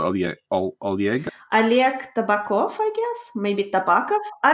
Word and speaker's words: Tabakov: Oleg Tabakov, I guess? Maybe Tabakov? I don't know. Oleg, yeah. So in Russian, the spelling is that O's, when you write an O, you sometimes pronounce it as an A.